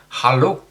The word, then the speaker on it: hallo: Of course, you can also say hello, which is pronounced hallo. Hallo. Hallo.